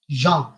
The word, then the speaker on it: Jean: Jean, the pronunciation is Jean, and I am writing the spelling is Jean.